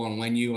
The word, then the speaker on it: Onwenu: The name that I love, Jake and I talked about him earlier, the right tackle from New England, Michael Onwenu, I think is the way to pronounce it.